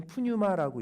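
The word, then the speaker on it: πνεῦμα: 오늘 본문에 나오는 귀신에 해당하는 헬라어 단어는요, 제가 저렇게 파란색으로 이렇게 표시해 놨는데 저게 헬라어인데 읽기는 푸뉴마라고 읽습니다.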